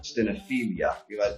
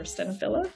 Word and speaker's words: stenophila: It's called Coffea stenophila, although it depends who you ask in terms of how to pronounce it. And it's called Coffea stenophila. Stenophilia. I've been told that's incorrect. Or stenophila.